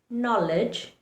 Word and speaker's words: knowledge: K likes to remain silent when it has N following it. For example, in words like knowledge, knee, kneel, you see there's an N just after the letter K.